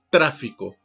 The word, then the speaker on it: tráfico: ejemplo la palabra tráfico cuando yo le digo así tráfico con el énfasis en la ante penúltima sílaba es decir unas palabras